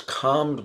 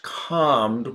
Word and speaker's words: calm: it has optional yeah some people say calm without the L Sound others say calm okay Tom is the